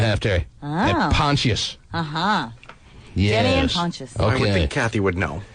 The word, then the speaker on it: Pontius: He pronounces it Pontius.